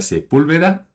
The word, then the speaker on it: Sepúlveda: A todos los que nos escuchan, estamos hoy acompañados por Cintia Sepúlveda. Espero que lo dije bien, ya con el acento en la U.